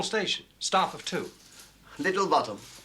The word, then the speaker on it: Botham: bottom said but it's spelt Balkan and it's pronounced bottom I just told him that hand or thank